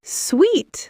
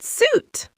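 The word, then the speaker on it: suite: Sweet. Sounds like sweet, not suit.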